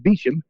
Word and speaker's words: Beauchamp: So you brought up the name George Beecham. It's spelled Beauchamp, and it's apparently pronounced Beecham.